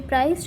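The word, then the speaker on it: prised: They have to be priced open. It's priced P-R-I-S-A-D. It's pronounced like the word price, P-R-I-Z-E.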